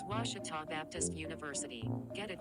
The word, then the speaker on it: Ouachita: for was Baptist University back in Texas everybody pronounces it Witchita but really it's was was was how would you pronounce it was it's was Baptist University get it right it's was people